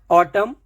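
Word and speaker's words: autumn: बोलना है एन का प्रोनंसिएशन नहीं देना है ऑटम कॉलम कंडेम डम हैम इस तरीके से देखिए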